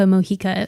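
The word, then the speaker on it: Mojica: and it's by Rebecca moika which looks like Ro Rebecca MOA but that that's but that's not how you say it yeah but yeah that's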